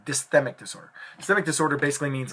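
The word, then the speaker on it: dysthymic: referring to um the next one is called dmic disorder let me spell that for you d y s t h y m i c dysic disorder dmic disorder basically means light depression for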